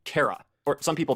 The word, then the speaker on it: Chara: But by far the most important of these is the name Kara. Or some people pronounce it Cara or Charara, but it seems to just be short for character.